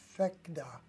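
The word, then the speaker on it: Phecda: So what we'll do is we'll say show chart and go here, and they pronounce it P-H-E-C-D-A, FECDA.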